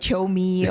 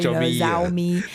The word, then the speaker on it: Xiaomi: the language difference and people pronounce our brand name you know in various ways and yeah and then like you said yeah like like CH me or Z me but you know it's fine you know whichever way you prefer to pronounce according to your language you know we just want you to know yes xiaomi is like your CH me right your Tech Chi